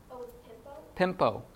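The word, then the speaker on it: πέμπω: Pimpo, you say tempo or pimpo? Pimpo, I send.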